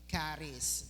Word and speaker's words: Charis: tawag po diyan ay kis yan so ang pronunciation po niyan ay caries no isa po ito sa Greek word na